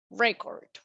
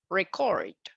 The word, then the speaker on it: record: Another example for this one is this. Record or record.